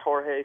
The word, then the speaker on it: Jorge: on how do you spell Jorge yes it's pronounced Jorge spelled Jorge w h o r e- h